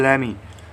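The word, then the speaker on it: lemme: Next contraction है लेमी को आप क्या लिख सकते हैं, लेट me, correct pronunciation लेमी।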